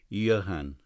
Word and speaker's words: Johann: Brewster gave the name its Germanic pronunciation, Johann.